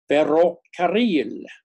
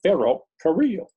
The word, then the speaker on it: ferrocarril: And people don't know how to pronounce that, or the double R, ferrocarril, and they can't go, arr. I can't say that, I can't roll my tongue, and some people can't. So they say ferrocarril.